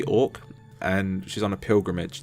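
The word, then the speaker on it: Auk: You play as a girl called, I think it's Orc. It's spelled A-U-K. Right. So it's probably Orc.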